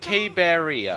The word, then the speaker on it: Caberea: Caberea, 4 syllables. Cabe is 1 syllable.